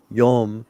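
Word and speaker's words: יום: And because I was saying with the Ashkenazic pronunciation, the comment says like an O sound. It's almost like an O sound. Yom. So it sounds like Yom day. But let's say I would say it with a Sephardic pronunciation. Yam.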